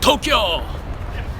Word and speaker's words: Tokyo: myself and call it Tokyo too two syllables not three Tokyo not Tokyo Johnson and elect yourself